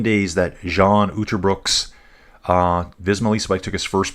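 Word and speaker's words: Cian Uijtdebroeks: So Fab saying it's pronounced Kian Uterbrooks. UI is an ow sound in the Netherlands. Don't ask me why they pronounce their vowels this way.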